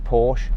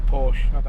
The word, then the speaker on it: Porsche: How do you say Porsche? I say Porsche. I say Porsche as well. Some motoring journalists say Porsche. That's a girl's name.